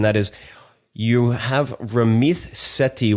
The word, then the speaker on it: Sethi: Why is the T pronounced like a th and the th pronounced like a T? I have Okay, I'll tell you two things about my name. First of all, in Punjabi, the way it's written, it's th so Ramit.